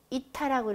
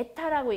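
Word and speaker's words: eta: 그 다음에 문자 요거는 이타라고 읽어주면 돼요. 에타라고 읽기도 하고 우리 한글식 발음을 하다 보니까 주로 이타라고 많이 읽어요.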